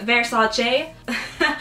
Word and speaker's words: Versace: on the assassination of the famed designer Gianni Versace it probably sounds weird with me saying it